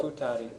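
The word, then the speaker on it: 二人: The pronunciation is interesting because if it's one person, you pronounce this hitori. If it's 2 people, Futari.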